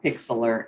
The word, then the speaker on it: Pixlr: It's called Pixlr Editor, and that's spelled Pixlr Editor.